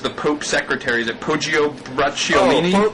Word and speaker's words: Poggio Bracciolini: guy who was the Pope's secretary, is it Poggio Bracciolini? Poggio Bracciolini.